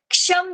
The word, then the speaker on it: क्षम: के is silent और क्ष, ऊपर क्षत्रिय का जो हम लोग क्ष लिखते हैं ना, वो वाला, और ऊपर टिम्ब।